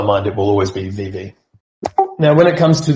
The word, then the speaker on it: VeVe: Do you prefer the pronunciation Vivi or Vive? VV. Initially, it's always been VV, and it used to